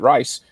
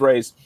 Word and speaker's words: Reis: i've to be honest i pronounce it rice every time i saw it and you go nope it's raised i'm like oh that